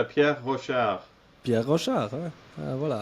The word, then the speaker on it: Pierre Rochard: So it's Pierre Rochard.